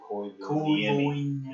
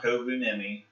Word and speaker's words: Koivuniemi: That's how you pronounce his name, by the way. Mika Koivuniemi. It's not Kovunemi. It's not Koivunemi. Koivuniemi.